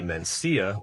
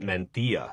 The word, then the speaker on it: Mencía: is going to be Mencía, whereas the Spanish pronounce it Mencía. They make the C more like a TH.